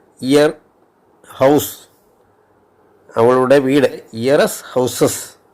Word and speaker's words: ihr: അവളുടെ എന്നുള്ളതിന് year എന്നാണല്ല, IHR year. Year house, അവളുടെ വീട്, ഇയറസ് ഹൗസസ് എന്നാവും.